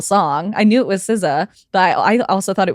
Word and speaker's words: SZA: not like a weekend song no it's uh siza I think is how you pronounce s sza artist and it was when